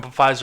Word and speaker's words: Pfizer: I keep saying Pfizer, and I'm saying it wrong on purpose, by the way. I know the P is silent. But it's just, and I've